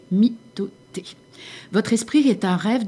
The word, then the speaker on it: mitote: Alors, votre esprit tout entier est un brouillard que les tolte appellent un mythote. Prononce myoté.